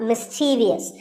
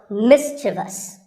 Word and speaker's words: mischievous: in the word mischievous this is not mischievous there is no i after the v the last syllable is just so mischievous and then there are